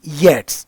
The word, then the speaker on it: Yeats: मैं भी पहले इसको बजेंटियम ही कहता था बट it's actually विजेंटियम selling to विजेंटियम और डब्ल्यूबी येट्स है। डब्ल्यूबी यीट्स नहीं है।